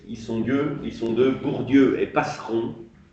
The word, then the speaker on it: Passeron: En 1967, par l'écriture d'un texte, ils sont deux, Bourdieu et Passeron, comme ça se prononce Passeron.